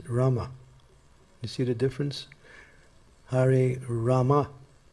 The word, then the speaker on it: Rama: And it's Hare Rama, it's not Hare Ram. I mean, you can say Hare Ram, but then again, Hare Rama is the actual thing.